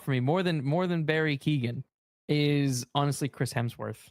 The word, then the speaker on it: Keoghan: Yeah, Barry Keoghan. Keoghan.